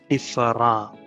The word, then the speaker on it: différent: Words in English ending in ENT and ANT are pronounced as in French. So different would be différent.